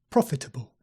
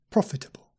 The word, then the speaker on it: profitable: you say profitable profitable with the stress on the first syllable try again profitable profitable and it comes from